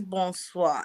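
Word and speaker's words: bonsoir: hours away watching the podcast man it is bone swap and it's spelled b-o-n-s-o-i-r never arguing with somebody from france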